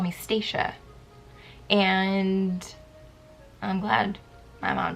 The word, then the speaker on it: Stacia: My name is pronounced Stacia. S-T-A-C-I-A. So like Tasha, but with an S.